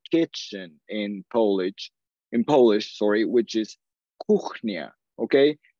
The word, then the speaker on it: kuchnia: I said the word for kitchen in Polish, which is kuchnia, okay? K-U-C-H-N-I-A, okay? Se escribe K-U-C-H-N-I-A. Ahora, los que hablan español, the ones that speak Spanish, know that C-H-C-H suena Ch, okay?